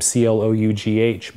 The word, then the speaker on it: Clough: I do know that there are a lot of other people named with the name spelled the same, C-L-O-U-G-H, but pronounced Clough.